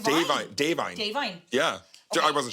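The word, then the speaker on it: Da'Vine: I think it's pronounced Davine.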